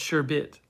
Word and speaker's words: sherbet: bert is pronounced sherbert sherbet is pronounced sherbet so there's two different words sherbert is considered a fully established is fully established as a variant lesser used for sherbet and sherbet and sherbert are pronounced as they are spelled this is uh miriam